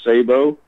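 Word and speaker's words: sabot: it's say it's pronounced say Bo hey Bo some people Americans a lot of them call it a Sode of ground but it's actually it's actually a saber round it's a French word and there they produce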